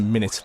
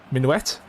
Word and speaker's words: minuet: I know I never pronounce a minute that's not right minuet like duet yeah pronunciation is not